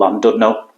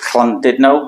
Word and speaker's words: Llandudno: speak it as it's written, it'll be called Llandudno. But I know anything with a double L in Welsh is a bit of a like you're coughing up some phlegm. But I'm not sure if it's Llandudno or Llandudno.